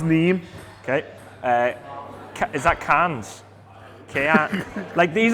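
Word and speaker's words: Nîmes: Nimes. Yeah. Angers. I think it's pronounced Neem.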